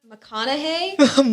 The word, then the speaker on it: McConaughey: is beyonce cat is there an obvious one mcconaughey mcconaughey like kanakana k that's yup that's how you pronounce it yeah and so you said that's